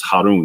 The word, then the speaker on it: Harun: So this is Finhas, the son of Eleazar, and this is Harun. This is how you say Aaron or Aaron in Arabic.